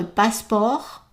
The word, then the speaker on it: passeport: Est-ce que je pourrais, so je pourrais vous demander votre passeport, and don't pronounce the T in passeport, votre passeport et une carte de crédit.